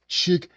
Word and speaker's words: Chick-fil-A: So I pronounce it this way, chickfeller. Yeah, Chickfila. I mean, the proper the pro the proper pronunciation of this one restaurant is Chickilla.